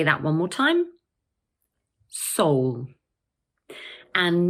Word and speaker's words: Seoul: So this word is just one syllable, and in British English, it's pronounced Seoul. Let's say that one more time. Seoul.